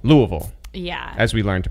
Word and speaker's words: Louisville: he is also from Kentucky but he's from Louisville Louisville yeah as we learned to pronounce yeah yeah I'm from an area worse